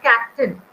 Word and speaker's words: captain: Then we have captain. So cap we say louder than tail. So captain.